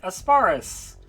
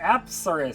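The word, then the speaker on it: Apsaras: So if we fuse Pixie and Kodama, we'll get Asparus. Or Apsaris, sorry. I'll learn how to pronounce the names eventually.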